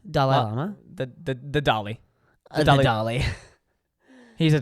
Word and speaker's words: Dalai: pronounce it Dalai no it's not the dolly it's D it's d d a l a i so the doll not the dolly the doai Llama doll llama the the the dolly do the dolly he's